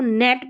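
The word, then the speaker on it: gnat: एन के combination में जी एन ए टी इसको नेट पढ़ रहे हैं क्या पढ़ रहे हैं? नेट। तो यहां पर जी साइलेंट है।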